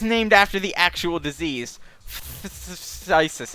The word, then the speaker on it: phthisis: Well, the magic card is named after the actual disease, phthisis. Except I believe the ph is silent.